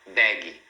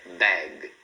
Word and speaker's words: bag: Então, procura não falar bag. É bag para no G.